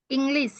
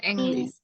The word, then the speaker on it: English: English ya, bukan English. Karena E itu dibaca I.